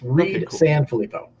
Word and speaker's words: Reid San Filippo: cool crowdfunding show today I have with me Reed Sanfilippo am i pronouncing that right yeah yes Reed Sanfilippo all right and you're here to talk to